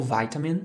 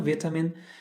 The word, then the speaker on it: vitamin: palavra vitamin assim ou vitamin tanto faz com a pronúncia certo vitamin no inglês americano vietam no inglês britânico tá certo mas a